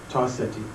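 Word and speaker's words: Ta-Seti: Right, we have to get the correct. Tarseti. Right, Tarseti, right? And could you spell it in there? It would be T-A-S-E-T-I, Tarseti.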